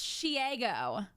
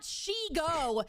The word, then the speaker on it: Shego: It's Shgo. Like Diego. It's not Shego. Do you know why her name is Shego? No. Because she ego because of her ego.